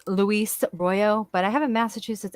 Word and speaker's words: Royo: Royal, you're saying? Royo. Royo or Royal? Royo.